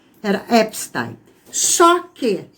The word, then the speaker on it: Epstein: Ele é um judeu. Então a pronúncia não é americana, a pronúncia tá é judaica, então é epstein. A pronúncia americana é Epstein. Então eu vou continuar mantendo a pronúncia original, OK?